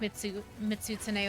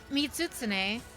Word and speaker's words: Mizutsune: tsuna yoshisawara it's it's it's silent almost or kind of bleeds into each other it's like the main